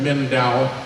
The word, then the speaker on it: Mindanao: How you pronounce that? Mindanao?